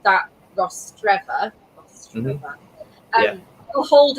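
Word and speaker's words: Rostrevor: So someone is saying, Kate, say it like the name Trevor, Rostreva. Yeah, that's basically yeah. Okay. Rostreva.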